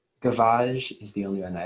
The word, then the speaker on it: gavage: Gavage. Am I saying it correctly? As far as I can tell, yes. Yeah. Gavage.